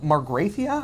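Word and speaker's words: Magrathea: And they're going to find the lost planet of Margrathia, I believe. That's how I pronounce Magrathia.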